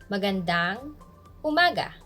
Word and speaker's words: magandang umaga: in filipino we say stress on the third syllable so you have to say it like magandang umaga and stress on ma maganda means beautiful or